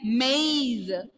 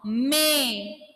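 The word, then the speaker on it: mais: Listen to those pronunciation, two pronunciation clearly. First one, mice. First one is mice. A and E sound is pronounced clearly. Mice. And here, together I am reading maize. Sorry, S will be silent. Désolé moi. May. May. S will be silent here. May. See the difference?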